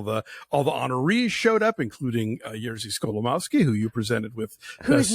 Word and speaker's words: Jerzy Skolimowski: time, and all the honorees showed up, including Jerzy Skolimowski, who you presented with.